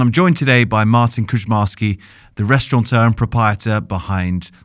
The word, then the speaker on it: Kuczmarski: It's Kuczmarski.